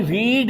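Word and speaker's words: read: Spelling वो spelling वही है आर इ ए D pronunciation change हो जाता है।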